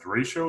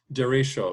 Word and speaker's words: derecho: That Derecho, is that how you say it? Derecho, right? Yeah.